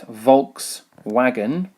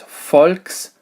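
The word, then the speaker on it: Volkswagen: which has this symbol this is not in actual fact volks wagon it is folks wagon which brings us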